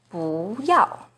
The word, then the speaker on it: 不要: For example, 不 is the second rising tone in 不要, but it's the 4th falling tone in 不好.